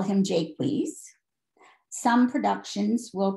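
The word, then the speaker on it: Jaques: So he called that brother Jakes and called the clown character Jakeweez.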